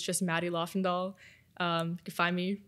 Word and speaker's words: Lofvendahl: to pronounce it cuz I wasn't there's some silent letters it's I know I totally get it it's okay um yeah it's LA and doll so yeah everyone we know yeah um well